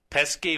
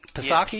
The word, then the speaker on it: Psaki: Or I guess the P is silent. Psaki, you're talking about? Psaki, yeah. Jen Psaki. I always pronounce the P, but I'm not hearing it in media platforms, so maybe it's silent.